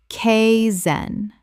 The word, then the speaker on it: kaizen: Kay-zen. Two syllables with the first sounding like the word sky without the S.